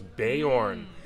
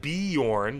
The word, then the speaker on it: Beorn: is for Bor ah so it's born it's not beorn you've been saying it wrong all these years you've been saying it wrong it's Bor right right oh look